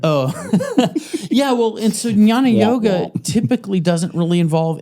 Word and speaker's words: Jnana: Jnana? Yeah, well, Brian Rescue taught me how to pronounce it because it's Jnana. So it's like jnana, like a nasally jnana.